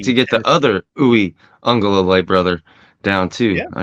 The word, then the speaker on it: Uiagalelei: Uiagalelei. Yes. Uiagalelei. You got to put it's two Lilis in there.